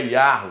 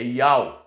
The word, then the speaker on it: YAUH: Então o nome dele não é Yahweh, não é Javé, não é Jeová, é Iau.